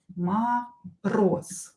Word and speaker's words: Мороз: You can hear that I pronounce this Z as S here. Мороз. Because voiced consonant at the end of the word becomes unvoiced. Мороз. Z becomes S.